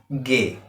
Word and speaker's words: G: In German we said G, in English we said G, but in German we pronounce as gay, gay, right?